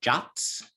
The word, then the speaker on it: JWT: particular json web tokens jwts are jots you can pronounce it as a jot and so they don't